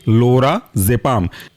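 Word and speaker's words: लोराजेपाम: जेड ई पी ए एम एक साथ पढ़ेंगे लोरा जपाम नेक्स्ट एग्जांपल है आपका टेमा जपाम टेमा जपम के स्पेलिंग है टेमा टी ई एम ए और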